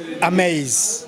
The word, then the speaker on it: Amaze: Is that the right pronunciation? Amaze TV. Oh, Amaze. Okay, Amaze.